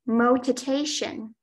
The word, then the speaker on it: motitation: Your word is motitation. Motitation? Yes. May I please have all of the information? Motitation is the only pronunciation.